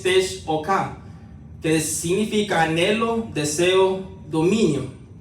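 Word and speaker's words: תשוקה: Es la palabra en hebreo que se escribe T-S-U-Q-A. La pronunciación es Tesh-O-K, que significa anhelo, deseo, dominio.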